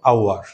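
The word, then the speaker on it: hour: সেই দুইটা ওয়ার্ড হচ্ছে, এটার উচ্চারণ আমরা করব আওয়ার এবং এটার উচ্চারণ করব অনেস্ট, আওয়ার, অনেস্ট। তো এখানে এইচটা কিন্তু আমরা সাইলেন্ট করে দেব, এইচটা সাইলেন্ট করে দেব, আমরা উচ্চারণ করব আওয়ার, অনেস্ট, এইভাবে আমরা উচ্চারণ করব।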